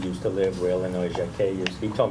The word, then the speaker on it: Jacquet: He told me to say Jacquet. Right. Where Illinois Jacquet used. So I'm the only one who says that. Everyone else says jacket. He said, he was funny. He said, I said, how do you say it? It's supposed to be a French name. He said, J-A-C-Q-U-E-T. Does that look like a jacket to you? I said, okay, I got it.